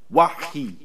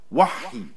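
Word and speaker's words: وحي: Wahi is pronounced with hey in the Hebrew dialects and ha in the Arabic Quran.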